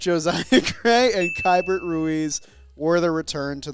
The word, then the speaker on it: Keibert: Josiah Gray and Keibert Ruiz were the return to the Washington Nationals Keibert. in exchange. How do you say that name? Why do I put an L in there sometimes?